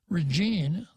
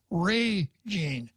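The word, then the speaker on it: Régine: it shouldn't be pronounced regine the stress should be on the first syllable ray gene easier just to say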